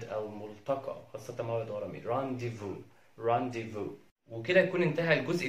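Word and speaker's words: rendezvous: آخر حرف معانا هو حرف الزد في كلمة زي رانديفو رانديفو رانديفو. الزد هنا لا ينطق، ودي كلمة فرنسية ومعناها باللغة العربية موعد أو ملتقى، خاصة موعد غرامي رانديفو رانديفو.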